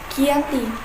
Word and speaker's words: Giyanti: dari lokasi penandatanganan perjanjian yakni Desa Janti di dalam pelafalan Belanda disebut Giyanti dan secara tertulis di meja